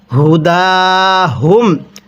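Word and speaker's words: هداهم: লাম ইয়া জবর লাই আলাই কাফ জবর কা আলাইকা লাইসা আলাইকা এরপরে হুদা হুম হা পেশ হু স্মরণ রাখবেন এই গোল হা গুলো উচ্চারণ করার সময় মুখের মধ্যে হালকা আওয়াজ করে পড়তে হবে হুদা হুম এরপরে ওয়ালাকিনাল্লাহা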